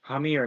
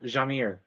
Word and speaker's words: Hamir: do I keep forgetting it's hamir not Jamir sounds like how you'd